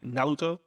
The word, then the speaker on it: Naruto: they don't pronounce ours it's actually more like close like between uh r and the l so it's naruto if you really pay